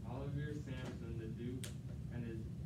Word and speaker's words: Olivier: Yeah, but if you wanted it to rhyme with near, well, how would you pronounce it? Probably Olivier. Olivier Samson, the Duke, and his...